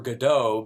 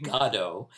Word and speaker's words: Godot: saw this play that i'm sure we pronounced waiting for godot but it is actually gado that's i know that